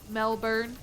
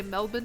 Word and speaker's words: Melbourne: They say Melbourne. I'm from Melbourne. Melbourne. That'd be funny though. Just randomly Melbourne. I sound like an Australian. Melbourne. Because you're It's funny to pronounce the R though to be so Oh, you guys are from Melbourne.